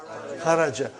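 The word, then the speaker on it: خرج: Say it properly. Kharaj. With sukun. You won't say with? You will say kharaj.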